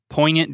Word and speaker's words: poignant: ear biscuits thought provoking poignant did you say poignant i did say poignant did you did you say the g did you pronounce the poignant i could say poignant